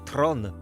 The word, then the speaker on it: Theron: En Afrikaans, la langue dérivée du néerlandais, son nom est censé se prononcer Tron.